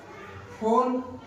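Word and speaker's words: phone: दूसरा ले लेंगे फोन, क्या?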